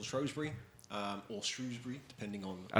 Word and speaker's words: Shrewsbury: Is it Shrewsbury or Shrewsbury? Well, I say Shrewsbury, even though I shouldn't. It's spelled Shrewsbury. Yeah. It's said that people who are not from there originally call it Shrewsbury.